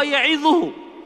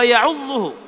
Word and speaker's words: يعظه: Orang ini membacanya bukan wa huwa ya'idhuhu, yang artinya waktu ia memberi pelajaran kepada anaknya, tetapi wa huwa ya'udhuhu, yaitu artinya dan saat itu dia sedang menggigitnya dengan giginya.